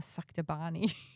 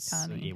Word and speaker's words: sabachthani: You said Sabachthani. whatever it was. You got one syllable back to front, but that was it.